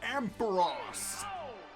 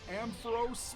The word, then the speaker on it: Ampharos: start and down goes ampharos i know some people pronounce it ampharos but they pronounced it ampharos in the anime so last up is